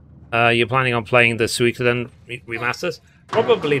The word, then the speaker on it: Suikoden: That's how I learned that the way you pronounce them is Suikoden.